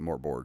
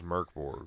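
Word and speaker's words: Mörk Borg: Yeah, I mean, whatever that, which I read it in the book that it's pronounced Merc. The first part is Merc.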